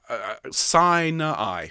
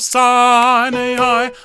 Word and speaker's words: Sinai: mount of sinai okay this is a really really tricky one to sing uh sign i please he stood on the mount of sign a eye and heard the judgments